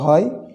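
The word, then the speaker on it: حاء: হা, সবচাইতে যেটি নিয়ে আমরা বেশি বিপদে পড়ি, হা, এই হরফের উচ্চারণটা নিয়ে। এটি খুব বেশি কঠিন নয়, কণ্ঠনালীর মধ্যস্থান থেকে এটি হলক বলা হয়, কণ্ঠনালীর মধ্যস্থান থেকে এটি উচ্চারণ হয়।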